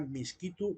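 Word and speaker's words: Miskito: De ahí deriva el nombre de Misquito. No tiene nada que ver con mosquito. Esas son malas pronunciaciones de gente extranjera, quizá ingleses, que así les terminaban llamando, o incluso, ¿cómo se llama? Españoles. Pero es en realidad Misquito o Tahuira.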